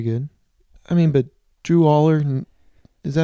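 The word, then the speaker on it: Allar: um but very good I mean but Drew Aller is that how you say his name yeah all Aller to go one for 16 on third down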